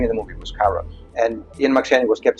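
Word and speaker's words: Charon: So, anything uh spelled with a K is pronounced with a K. So, it's Caron, not Sharon.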